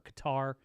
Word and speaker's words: Qatar: uh, the thing from Cutter or Qatar as people used to call it. It is now often pronounced Cutter, though.